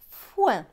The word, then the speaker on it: foin: F avec O-I-N. O-I-N, c'est ouin, donc F et ouin, foin.